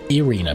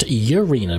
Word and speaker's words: Irina: ah there she is she pronounced her name enina but I've heard that name pronounced urina before and Irina but this is enina oh champion of Ash